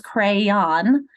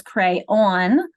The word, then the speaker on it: crayon: And so look at the differences between two syllables, crayon, or two syllables, crayon, where the second syllable rhymes with dawn, although dawn here is